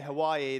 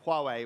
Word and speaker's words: Huawei: marketing and partnerships director some people pronounce it differently I heard someone say Hawaii the other day but it's Huawei which is excellent to